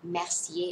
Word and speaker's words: Mercier: ว่ า อ่ า น ว่ า Laura Mercier ถู ก แ ล้ ว น ะ ค